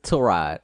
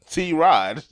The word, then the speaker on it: Tyrod: not even it's Tyrod. Tyrod? That's how you say it? That was the thing. It's Tyrod. His mom says it's Tyrod. That's not. That's so you just T-Rod.